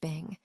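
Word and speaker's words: 病: Let's look at the word Chinese letter, pronounced Bing.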